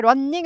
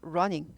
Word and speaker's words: running: 때 러닝 할 때 런닝 아니고 러닝 러닝 두 개일 때 발음 하나만납니다 근데 이렇게 띄어져 있을